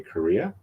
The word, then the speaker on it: Correia: the name of Larry Korea um it's pronounced like the country of Korea uh and it's spelled